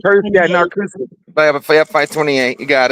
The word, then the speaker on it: Narcoossee: But yeah, there actually is a place off 528 and Narcoossee Road, LDG, if I'm saying it right. What are you saying, right? Narcoossee Road. If you were on Yeah, Narcoossee. 528 Yeah, Narcoossee.